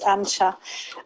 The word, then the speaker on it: Ancha: sure can yes hi no you didn't butcher my name that is ancha um i am really